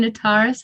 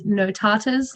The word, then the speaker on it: Notaris: Calippo was one, or even my last name, Notaris. I remember having Odd Prophet pronounce it as Notatas on live stream, which was great, to say the least.